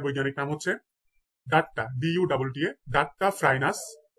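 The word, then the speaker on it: Duttaphrynus: কুনু ব্যাং, কুনু ব্যাঙের বৈজ্ঞানিক নাম হচ্ছে ডাট্টা, DUTTA, ডাট্টা ফ্রাইনাস, ডাট্টা ফ্রাইনাস মেলানোস্টিকটাস, ডাট্টা ফ্রাইনাস মেলানোস্টিকটাস।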